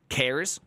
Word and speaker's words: chars: should call it cars cares yeah cares would be like the correct way to say it I should call it